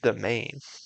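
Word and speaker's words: demesne: So a Demesna is Dimane. This is pronounced Domain.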